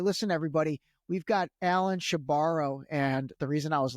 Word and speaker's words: Shebaro: making sure I was pronouncing his last name correctly. And he said, yeah, she borrows the money and she never gives it back.